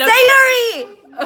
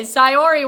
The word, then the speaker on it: Sayori: Sayuri! Okay, Sayori wants me to check out.